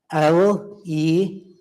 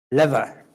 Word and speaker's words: lever: L-E-V-E-R. What does that spell? Lever. Right, that is an American pronunciation. British pronunciation is lever.